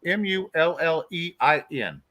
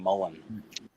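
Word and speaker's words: mullein: it too yeah it's m-u-l-l-e-i-n oh it's e-i-n sorry yes spell it again Shane m-u-l-l-e-i-n l-e-m-u-l-l-e-i-n yeah with the name it's just like a person you would know name Mullen yep oh Willie McMullen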